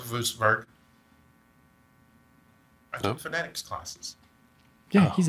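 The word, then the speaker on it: Würzburg: I know, it's pronounced Wurzburg.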